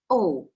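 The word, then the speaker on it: を: nice and easy and that one is oh just an o sometimes it's spelt w o but it's a very soft w so oh okay and we're going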